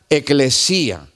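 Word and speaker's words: ἐκκλησία: hermanos la palabra iglesia viene de una palabra en griego que suena similar se pronuncia eclesia en griego y su traducción y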